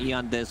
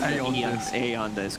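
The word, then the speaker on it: Aeon Disk: removed from the game e on this pronounce a on this go okay smoke around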